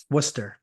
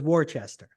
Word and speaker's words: Worcester: with should be fun is that how you pronounce that Worcester yep Worcester yeah I won't lie I won't lie to you when I first got in the league thought it was Worchester good thing we didn't